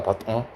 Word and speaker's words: button: 이거 어떻게 읽어야 되는지 아니? button이라고 읽는다. button. 나중에 한번 들어보세요. 원어민 하는 거. 은이야 은. button.